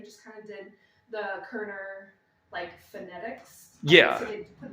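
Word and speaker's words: Körner: And he put the O with the 2 dots above it, but it's pronounced Korner.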